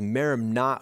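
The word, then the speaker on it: μέριμνα: New Testament it's an interesting Greek word the pronunciation of it is merimna oh and it has a couple of subtly differ meanings there are two senses in which merimna can be used now the first sense is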